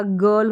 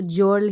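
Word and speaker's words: girl: जी के बाद में जैसे यहाँ पर बोला कि जी के बाद में आई रहेगा तो ज पढ़ेंगे, लेकिन यहाँ पर ग पढ़ा जा रहा है।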